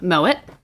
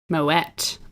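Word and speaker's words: Moët: eve informally mo yes but actually the t is pronounced i looked it up mow it yeah moment moet okay i've always called it moe usually in french i'm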